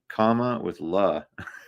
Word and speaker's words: Kamala: It's a comma with la. For all of us dumbass people. Well, that's what she said in her book, is she said, "Think of a comma, think of punctuation mark, comma, Right. la," Yeah.